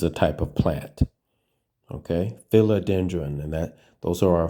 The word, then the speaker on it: philodendron: r o n and it looks like it would go uh filo but that's not how you say it right so there's sometimes